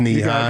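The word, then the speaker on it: Nehi: Yeah, I could be pronouncing that wrong, but I believe it's knee-high. You got it right.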